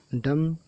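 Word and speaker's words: dumb: ये बी को नहीं पढ़ा गया, ये बी साइलेंट है। थम थम में अंगूठा। डम डम में देखिए एम के बाद बी है तो ये भी नहीं पढ़ा गया, ये भी साइलेंट है।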